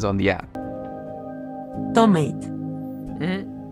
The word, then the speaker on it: tomate: Tomate. This is tomate, not tomate.